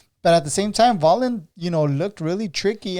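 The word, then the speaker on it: Wallin: really impressed by otto wallen vollen i'm sorry it's it's with a v it's spelled with a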